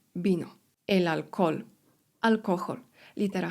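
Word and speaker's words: vino: Na początku słowa litera V, czyli U w kasjanu jest wymawiane jak B. Bino, elalkol.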